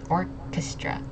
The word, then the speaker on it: orchestra: Very close. Orchestra. Orchestra. Okay. So, emphasizing on that first syllable.